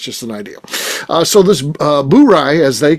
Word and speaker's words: Bourye: Bourye, and that is the correct way to say it.